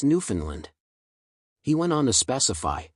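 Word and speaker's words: Newfoundland: time at Ken Jennings New Finland rhymes with understand New Finland understand emphasis on land love the show go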